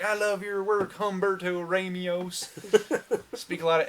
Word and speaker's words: Humberto: cannot say his name Umberto yes that guy Ramos we're trying to be cultural but yes really it's Humberto HTO HTO Humberto that I'm GNA meet